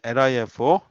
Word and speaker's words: LIFO: 여기 LIFO, LIFO라고 읽어요.